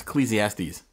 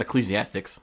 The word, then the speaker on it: Ecclesiastes: college what is it that's Ecclesiastes that's not what it says here that's how you say it oh so you it's the last sea of silence it's not ecclesiastics that's what it says